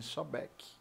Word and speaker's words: Sobek: beque o nome do acredito pronuncia-se souback é eu não joguei